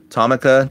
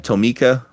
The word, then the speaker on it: Tomica: we got here Oh however you want to pronounce it Tommy Tomica Tomica I've heard it either way Chevrolet truck the scale